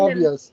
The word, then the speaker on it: Tobia: We're in Tobias? Journey to Tovias. Media, right? What? Tovia. Tobia. Journey to Media, The, right? pronounce the B as a V. Tovia.